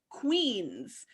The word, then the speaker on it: Queenz: And that is called Queens, and that is spelled Queenz. So Queens with a Z at the end.